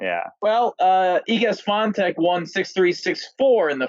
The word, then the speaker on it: Swiatek: How do we pronounce her name? You guys were on that last week. What was it? It's Swiatek.